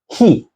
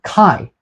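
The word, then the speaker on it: chi: is the lowercase fi the next letter is ke or Kai so Kai is another pronunciation of ke and and this is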